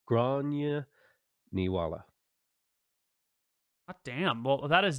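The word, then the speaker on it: Gráinne Ní Mháille: Grace O'Malley or Granuala. I said it wrong. Grania Niwala.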